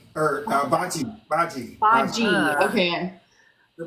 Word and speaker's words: Bhaji: It was a hard G, not a soft G.